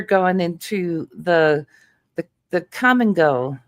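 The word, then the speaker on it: Kum & Go: And uh they have a gas station there called Come and Go and it's spelled K U. It's spelled K U M.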